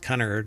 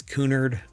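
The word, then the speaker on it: Cunard: I don't think it's pronounced Connor, right? It's Kunard.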